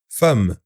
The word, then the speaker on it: femme: Fermier, mais peut parfois se prononcer fa, comme dans femme.